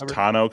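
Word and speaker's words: tonneau: Uh, you want the tono cover for 1,200 or a solar cab roof or a solar tono? What? How do you pronounce that? Tono. It's tano cover.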